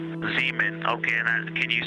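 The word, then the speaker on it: Zeeman: We believe that's Seaman Crater. Oh, I floated away from the speaker. Say it again, please. We believe that that is Zemen Crater. Zemen.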